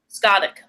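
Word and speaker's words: Scáthach: That's how you pronounce her name? Skavik.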